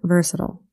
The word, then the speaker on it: versatile: and versatile fun fact as a souer I tend to pronounce words like versatile and volatile with a hard eye but for y'all I'll try to keep it to the more proper versatile starting with a definition